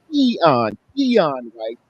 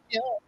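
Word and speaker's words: Keion White: His pronunciation is Keon White. So we got to get that right because some people say Keon, and other people mess up the exploration and the pluralization of the man's name.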